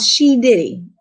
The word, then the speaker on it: She Diddy: new name that is befitting of me called She Diddy. It's spelled exactly the way it's said.